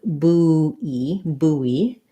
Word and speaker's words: buoy: So buoy is a weird one. It's like buoy, first syllable stress, and buoyant is more like boy, and then a schwa, buoyant. So they both have first syllable stress, but this one is a oo, buoy, and this one is an oi, like boy.